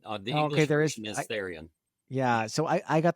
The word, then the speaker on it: Therien: I have a special guest with me uh from Haystacks Mortgages, Tyrion. Am I Am I even pronouncing your last name right there? Um pretty close. It's Theion. The English is Theion.